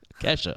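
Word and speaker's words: Ke$ha: the principal always kept pronouncing her name like that. Like, dollar sign. It's like Kesha.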